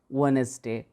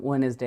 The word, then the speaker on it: Wednesday: it, that is C, Wednesday. I told it several times, Wednesday, and here we have found also Wednesday, and this time D actually doesn't come in our pronunciation.